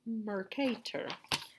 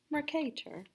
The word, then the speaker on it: Mercator: mercator projection map so that's pronounced mercator kind of like you have an english accent mercator okay so i'm starting